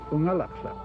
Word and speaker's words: Unalakleet: A lot of people think that Unalakleet means where the east wind blows, but the word Unalakleet is actually an Inupiaq word pronounced Unalakleet.